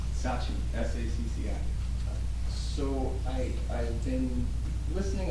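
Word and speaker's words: Sacci: Sachi, 507.5 Lorraine Avenue. I'm sorry, I didn't get the last name. Sachi, S-A-C-C-I.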